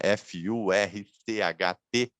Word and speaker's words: Furcht: Se escreve Furcht, né? F-U-R-C-H-T, que seria Furcht, né?